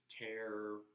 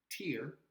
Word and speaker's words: tear: It's the same, it's written exactly the same. Yeah, so tear or tear. Okay, so pay attention there that the pronunciation on some of these homonyms is different.